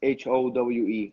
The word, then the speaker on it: Howe: How you pronounce it? It's Howe. Howe.